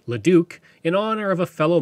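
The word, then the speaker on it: Leduc: several names including Leo which is now pronounced leuk in honor of a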